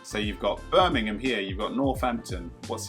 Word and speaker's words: Birmingham: I'm pronouncing it like a proper Londoner, Birmingham. So you've got Birmingham here.